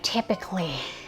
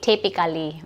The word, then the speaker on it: typically: Yung word na typically, by the way, ang bigkas ay typically. Huwag nyo nang i-stress yung A, hindi typically.